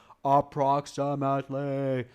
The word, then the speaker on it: approximately: caught the word approximately it's a nice long emphasized word approximately it's approximately it's five syllables five syllables I believe up proximately yeah it's a five-syllable word so you got to